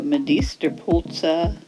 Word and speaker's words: medisterpølse: so let's get started first stop pronunciation medist Pulsa and Native Danish speakers pronounce medist pul uh medist puls medist pul Med POS language lesson over now